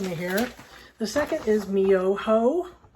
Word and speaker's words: Myoho: So first syllable is Nam. The second, don't run away from me here. The second is Myoho. Myoho, making sure you can see.